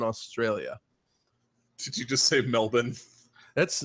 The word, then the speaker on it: Melbourne: so you just saved Melbourne that's how it's pronounced Melbourne yeah I'm not from Australia though yes but Melbourne is how they correct you if you say male born they're from that male